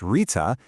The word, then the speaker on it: Ṛta: Tool number one is called Rita and it's all about finding our own place in the grand natural rhythm of the universe. So what is Rita? Well, it's pronounced Rita and it's basically the universe's operating system.